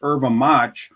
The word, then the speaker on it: yerba: space m a t that's pronounced irva or shimaha uh that mate is